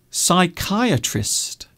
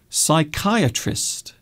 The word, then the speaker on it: psychiatrist: So these all have strange silent letters. And because they have silent letters, people will often spell these words incorrectly. So we have psychiatrist, psychiatrist, psychologist, psychiatric, physiotherapist.